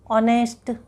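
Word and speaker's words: honest: वैसे ही यहाँ पे देखिए एच से लगा है सब spelling, ऑनेस्ट, HOUR, आवर, HONOUR, honour. ठीक है, तो ये ह से प्रोनाउंस नहीं हुआ इन सब वर्ड्स के। ह से इसका उच्चारण नहीं हुआ, इसलिए इसके आगे लग गया आर्टिकल एन।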